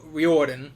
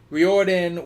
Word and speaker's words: Riordan: just felt like R Riordan I guess is how you're supposed to say his name Riordan was just introducing setpiece